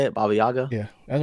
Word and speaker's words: Baba Yaga: Baba Yaga.